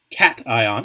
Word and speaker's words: cation: ions we have the cation cation is how you say that the cation is the